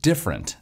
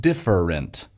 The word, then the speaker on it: different: I'm a little worried about the word different in the sheet music. It's two syllables in the chart, but I'll bet Vocaloid will pronounce it with three syllables, like different.